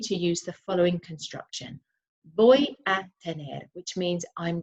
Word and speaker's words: voy: Voy a tener, which means I'm going to have. Now be careful with this. It's voy, not voy a tener. It's because our V's are pronounced as B's.